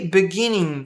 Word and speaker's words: beginning: But scientists, mas os cientistas, are only beginning, estão apenas começando. Are only, não falamos esse E, are only, beginning, também não falamos esse G.